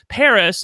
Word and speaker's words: Paris: But with Paris, and that is how you pronounce her name, correct? It's just like it's basically like the city in France.